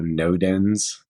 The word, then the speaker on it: Nodens: And then also Nodens. Sounds like the word no, like don't do it. Dens, like somewhere you go curl up in the woods to sleep.